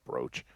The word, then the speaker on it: brooch: sorry BR I mean it's spelled bro it's pronounced brooch um if I